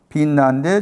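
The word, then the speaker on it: בִּינָה: 이 명사는 빈나잖아요. 빈나. 히브리 발음이 빈나인데 저 단어의 동사가 빈입니다.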